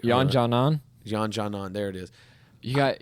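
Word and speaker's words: Yan Xiaonan: Jan Janan, there it is.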